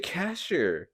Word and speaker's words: Kasher: Moshi, Kasher? Moshe, I don't know how to say his Cash. fucking name, It's dude. Moshe Kasher.